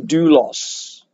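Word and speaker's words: δοῦλος: servant is translated from a greek word pronounced do loss and do loss actually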